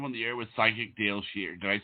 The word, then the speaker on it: Dayle Schear: You are live on the air with Psychic Dayle Schear.